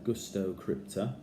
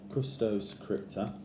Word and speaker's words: Custos Crypta: These are the Custo Crypta. I always say it wrong. Custos Crypta.